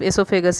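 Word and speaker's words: oesophagus: यहाँ पे देखो, इसोफेगस ओसोफेगस ओ लगता है, लेकिन ओ आपका साइलेंट होता है, इसलिए आजकल एलिमिनेट कर दिया गया है ओ को। तो न्यू भाषा में इसको हम लोग सिर्फ एसोफेगस ही कहते हैं।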